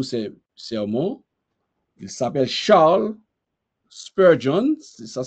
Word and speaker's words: Spurgeon: texte de tous ces sermons il s'appelle Charles Spurgeon ça s'écrit Spurgeon s P u R g e